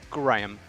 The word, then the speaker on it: Graham: And so just a curiosity, is it Graham or is it Graham? Like all one word Graham, or is it two syllables there? No, it's Graham.